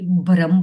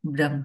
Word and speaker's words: ब्रह्म: अब हिंदी में तो इसको हम ब्रह्म बोलते हैं। तो जब हम इसका प्रोनाउंसिएशन करते हैं तो लगता है कि भ्रम बोल रही हूँ, लेकिन ये भ्रम नहीं, ब्रह्म है।